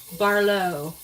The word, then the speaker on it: Barlo: Uh, Barlo Italian Grill was was the nice one. Oh, okay. Okay. That's right. Did I say it right? Barlo. That's right.